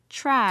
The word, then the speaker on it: trash: trash라고 하시면 됩니다. 그죠? TR은 TH 사운드로 바뀐다고 생각하시면 돼요. 그래서 촤 사운드요. 해보세요. trash. 자, 오늘 발음으로 trash, 이렇게 하시면 됩니다. trash, 자, 해보세요.